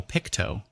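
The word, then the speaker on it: Pictou: Oh, Picto is how you pronounce it.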